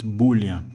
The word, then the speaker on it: Boolean: going to talk about bulling variables I don't know if it's pronounced bulling or Boolean buing pronunciation oh it's Boolean so today I'm going